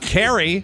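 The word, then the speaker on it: Cary: more important to be nice thank you uh carrie c-a-r-y like your wife yes uh north carolina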